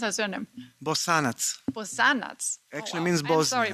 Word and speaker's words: Bosanac: How do you pronounce her surname? Bosanac.